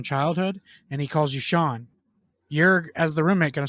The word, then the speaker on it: Sean: right he's your roommate his name is spelled s-e-a-n that's Sean we all know that but if your roommate doesn't like not a smart person they call you scene and you're too nice